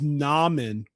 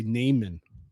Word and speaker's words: Naaman: It's Naaman, but I used to say Naaman.